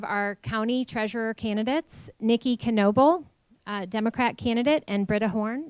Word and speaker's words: Knoebel: Yes, it is pronounced with a K, Knoebel, so remember that.